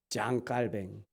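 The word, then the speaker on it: Jean Calvin: 이게 칼빈의 원래는 존이잖아요. 존. 근데 프랑스어로는 장이라고 읽는가 봐요. 이제 장 칼뱅. 장씨가 3명이나 계시죠. 장씨가 유명하신 분이에요. 이 장 칼뱅. 칼뱅은 존 칼빈이라고 하더라고요.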